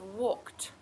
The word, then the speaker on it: walked: okay next word is walked Walked straight away at the end I can hear that t sound and I'm going to